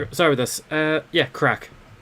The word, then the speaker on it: craic: Yeah, crack. No, CRAIC actually is how you say it's crack.